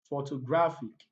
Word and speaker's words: photographic: Words that ends with IC, often take their stress on the second syllable from the last.